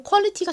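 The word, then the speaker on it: quality: 한번 다룬 적이 있는 단어인데요 어이 옷 너무 퀄리티가 좋다 와 같이 사용하는 이의 의미는 뭘까요 바로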